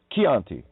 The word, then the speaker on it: Chianti: The mother is the mind, and what child, pronounced killed as well, phonics, CH, ka, Chianti, nice bottle of wine, you know? Well, if CH can sound like a K in Italian, it can sound like a K in English.